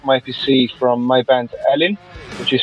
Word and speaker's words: Elyn: Yes, Castaway is the first song of the release I Broke My PC from my band Elyn, which is spelled E-L-Y-N, and it was released last year around March.